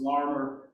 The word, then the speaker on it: Larimer: Garfield East Liberty Lincoln Larimer but it's pronounced by locals larmer and the Homewood Russian